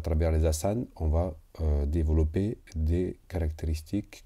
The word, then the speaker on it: asanas: Ça, c'est les plus connus, les asanas, donc on prononce pas de la dernière A.